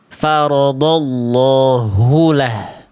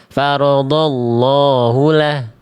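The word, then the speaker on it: فرض الله: Sehingga ketika dibaca Bunda, Abang, Kakak, Ayahanda sekalian, dia dibacanya faradallahulah. Faradallahulah. Nah, jadi harus jelas bukan cuman farallahu lah.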